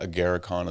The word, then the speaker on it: Agarikon: The Agarikon? Yeah. Is that how you say it? You can pronounce like that. Agarikon is another way.